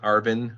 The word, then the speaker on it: ARVN: like hugely important okay some terminology the ARVN Arvin sometimes it's it's pronounced the army of the Republic of Vietnam